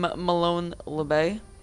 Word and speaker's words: Molon Labe: between LG I am Malone lebay that is actually how you pronounce it I was told by the team himself a little sauce boss